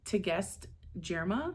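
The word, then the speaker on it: Tigest Girma: So March's prompt is vampires, and I'm going to read Immortal Dark by, I believe it's pronounced Tegest Jirma.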